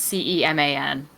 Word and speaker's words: Ceman: A report from Fightful Select states that Bruce Pritchard, Canyon Ceman, I'm not sure how that last name is actually pronounced. It's Ceman.